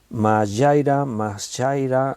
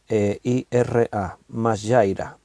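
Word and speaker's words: majaira: Mashaira se escribe M-A-J-A-I-R-A, M-A-J-A-I-R-A, mashaira.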